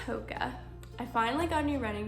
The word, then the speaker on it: Hoka: Hoka video I think I called it hookah but pretty sure it's pronounced Hoka I finally got new